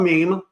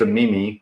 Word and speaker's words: meme: I tend to visit also not pronounced a Mimi which I was corrected on definitely not a Mimi or a or a gift apparently it's not a gif it is me me how is that mean